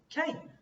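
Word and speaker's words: קֵן: This word is just a kuf and a nun, and that's how you pronounce it, Cain.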